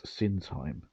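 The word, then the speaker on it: Sinsheim: another place called uh I think it's pronounced the sin time um but it is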